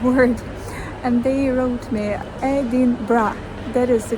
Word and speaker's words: Edinburgh: actually pronounce that word and they wrote me edin bra that is the correct pronunciation edra edra but when they say fast